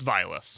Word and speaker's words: Vilas: But how did you pronounce the zoo name? I admitted up front I wasn't sure. You guys were saying it funky. It's Vilas. Vilas?